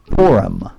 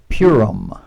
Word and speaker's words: Purim: You might not pronounce it like that. You might pronounce Purim. But you would be laughed at in Israel. Some Central European communities call it Purim. But mostly Westerners, it's called Purim. Eastern tradition, Purim. Those two are acceptable.